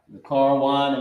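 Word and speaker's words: זכרון: y'all can get it zakar Wan okay this is how you pronounce it the car onean it means memorial memorial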